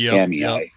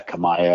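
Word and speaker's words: Kamiah: That's another one that always gets mispronounced, Kamei. I mispronounce it all the time. Oh, yeah, Kamaya or whatever.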